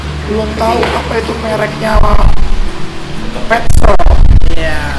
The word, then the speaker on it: Petzl: Belum tahu apa itu mereknya Petzl. Ya. Mereka nyebutnya Pets. Bacanya kan pakai ZL. Saya bilang, Pak, itu bukan makanan binatang, bukan makanan kucing. Saya bilang, itu spellingnya Prancis. Oh, itu Petzl, saya bilang gitu.